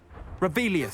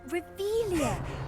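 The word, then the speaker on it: Revelio: place where are you rebellious saying it wrong oh rebelia much better oh shut up wait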